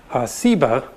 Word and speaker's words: Seba: also a related term a term that most scholars think is related that has just a different s sound seba and ugly explains that